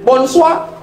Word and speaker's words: bonsoir: Tulisannya bonsoir bacanya bonsua.